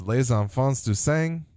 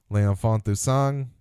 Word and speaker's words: Les Enfants du Sang: Les Enfants du Sang, as I'll say it correctly the second time, are ready to kill